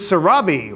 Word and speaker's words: Surabhi: eight seven that's Isabella this is Surabhi rhymes with wasabi so Robby's number is